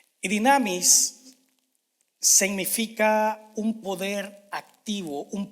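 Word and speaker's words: δύναμις: griega que se usó se llama se pronuncia dinamis dinamis significa un poder activo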